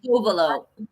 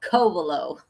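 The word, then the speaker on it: Covelo: Kovaleo. I'm sorry. It's all right. Say say big co and the rest are little. Kovaleo. Okay. Like like a sea cove. Kovaleo.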